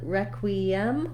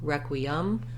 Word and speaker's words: requiem: a sound and then requiem we can either say this e as an m or some people will also say it as a schwa requiem or requiem of course this is